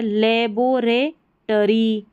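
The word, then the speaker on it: laboratory: टरी यहां पर है लेबोरे टरी यहां है डोरमी डोरमी टरी मेंडे टरी तो टी ओ आर वाई को टोरी नहीं पढ़ना टरी पढ़ देना है टेरिटरी लेबोरेटरी ठीक है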